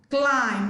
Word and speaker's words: climb: Climb. Letter B is silent in the word climb, not climb.